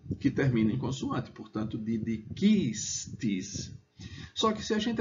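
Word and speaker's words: didicistis: Só que se a gente desconsiderar o né, como não existe nenhuma palavra oxítona em latim, você tem que a sílaba tônica é didiquistis, aprendestes. Por que isso?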